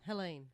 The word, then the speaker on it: Helene: Helene, anyway. Helene. See, it's spelt Happens Helene, every gig.